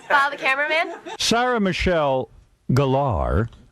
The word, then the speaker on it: Gellar: Sarah Michelle Gellar, not Geller.